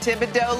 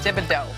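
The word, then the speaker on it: Thibodaux: And she is from Tibido, Louisiana. Your favorite i o d a u x. Wait, is that how you spell it? Yes. Tibido.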